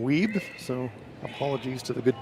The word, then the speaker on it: Wiebe: Thanks to the folks from Manitoba that have pointed out that I have been mispronouncing Ryan's name, so it's Ryan Wiebe.